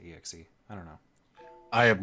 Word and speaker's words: exe: on the exi do many people pronounce it xie like I sometimes do but I usually say exe I don't know I